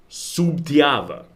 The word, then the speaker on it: Sutiava: But it's also written with an extra B, Subtiava. But they pronounce that early one kind of like a B, and the late one kind of like a V.